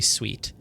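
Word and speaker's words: suite: uh suit how do you pronounce this word is it suit or sweet it's totally sweet sweet be sweet for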